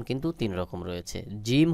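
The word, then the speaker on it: جيم: কিন্তু তিন রকম রয়েছে জিম হলো জিহ্বার মাঝখান থেকে একটু চাপ দিয়ে শক্ত করে উচ্চারণ হবে যেমন জিম জিম জিম তারপরে হা উচ্চারণের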